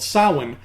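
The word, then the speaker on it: Samhain: in the day that Halloween replaced was called Salling but it was spelled like this so just take the first half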